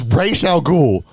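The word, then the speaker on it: Ra's al Ghul: should count points off for that for not pronouncing it's Christopher Nolan it's Ral ghoul R ghoul you Christopher Nolan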